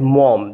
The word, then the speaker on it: Maugham: writer of this story friends please understand the pronunciation of this word it is William Somerset Maugham the spelling is a little tricky and you need to take care of that in Somerset in